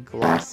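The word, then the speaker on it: Glacé: Okay, so I didn't see the accent mark above the E because it's literally so tiny. But I think the way that's pronounced is actually Glace.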